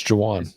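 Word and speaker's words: Jauan: Jennings Jan how do you say it actually Jawan Jaan yeah you don't even know it's Jaan J it's Jan Jennings Joan Jennings 12 targets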